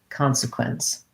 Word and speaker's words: consequence: there at the end the k the q u says kw and ce always says s at the end consequence uh the consequences of